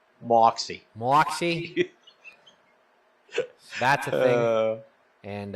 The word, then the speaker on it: Moxie: Pronounced Moxie.